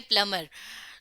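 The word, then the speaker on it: plumber: کرتا ہے۔ پلمبر دیکھیں یہاں پر تو یہ پلمبر لکھا ہے لیکن اس کا انگریزی میں تلفظ ہے پلمبر۔ تو پلمبر ہم کہتے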